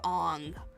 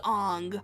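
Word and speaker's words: Aang: Might Shyamalan did not completely butcher the pronunciation of Ang of a saying it was Ang because he was trying to uh make it culturally correct.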